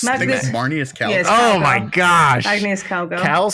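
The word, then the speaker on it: Marneus Calgar: cards that are super awesome the Warhammer decks Magnus Carlson one of the one of the uh one of the face commanders for the 40K decks I think you butchered that name probably Magus it's marus Cal oh my gosh Magus Cal say a name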